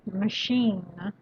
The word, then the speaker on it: machine: a constant temperature yes machine put the stress on the last syllable okay machine it's something that you